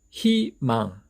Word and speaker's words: 희망: 이럴 때는 이 이중 모음이 가지고 있는 원래의 발음 의 대신에 발음을 편리하게 할 수 있도록 이로 발음하기로 약속을 했습니다. 그래서 희망, 희망.